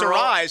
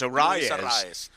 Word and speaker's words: Arraez: And I'm like, well, wait a minute, it's Arise. He's like, no, listen to this. It's Arraez. And then he said something else about other broadcasters where it was Arise. I'm like, listen, it's I've been listening. We'll just go with Arise. Yeah. I go with Urias. Yeah, roll the R's.